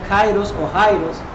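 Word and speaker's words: καιρός: La palabra griega se pronuncia Kairos o Jairo en este caso.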